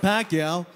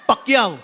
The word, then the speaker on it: Pacquiao: First of all, everyone's saying it wrong. It's not Pacquiao. It's Pacquiao. Pacquiao.